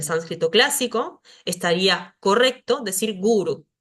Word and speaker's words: guru: última sílaba Por ende quizás estamos acostumbrados a esta palabra que está acá como ejemplo gurú que no se pronuncia en sánscrito como gurú se pronuncia guru si si estamos hablando